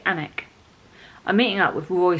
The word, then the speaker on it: Alnwick: to ellenoric anik elwick it's got an owl i don't know if you pronounce the al anik i want to say anik i'm meeting up with